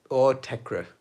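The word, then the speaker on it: Autechre: Yeah, my friends when we were growing up pronounced it Autek. But they just decided like the R-E at the end is silent. But for ages, years and years, I thought it was Autek, like Autek. And then I heard other people say Autekra, and I thought, oh, that makes sense.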